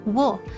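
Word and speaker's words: を: Um the first that um super blast son has typed out apparently used to be pronounced wo. Some people still pronounce it wo. I pronounce it wo.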